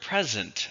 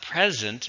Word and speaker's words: present: in the stress pattern this one has a stress on the second syllable and it has thus uh so it's not present its present present please present your ideas